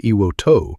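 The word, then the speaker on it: Iwo To: If you visit Iwoima today, now called Iwoto, the Japanese pronunciation, returned to Japan in 1968, you'll find a monument near the summit of Suribachi.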